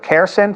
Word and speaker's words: CARECEN: He is the Executive Director of CARECEN. Did I pronounce that correctly?